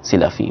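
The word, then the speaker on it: سِلَفی: رحمۃ اللہ تعالی علیہ, سلفی سین کے زیر کے ساتھ لام کے زبر کے ساتھ تلفظ یہ اس کا صحیح سلفی, وہ ایک دوسرا تلفظ ہے وہ یہاں پر مراد نہیں, یہاں پر سلفی, یعنی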